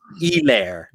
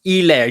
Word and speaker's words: Helaire: And it's Helaire. It's Helaire. You do not pronounce the H. It's like they're French. It's Helaire.